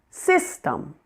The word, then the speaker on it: system: Number two, system. The first part, sis, is the primary stress syllable.